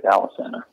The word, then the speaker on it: Alesana: The proper pronunciation of my last name is Milky, and the proper pronunciation of my band name is Alesana.